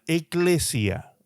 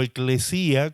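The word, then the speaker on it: ἐκκλησία: La palabra iglesia viene de la palabra griega eklesia o eclesía, como también lo pronuncian algunos.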